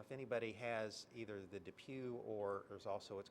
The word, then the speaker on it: DePuy: like to talk about are it's called the depuy hip product and this is an issue that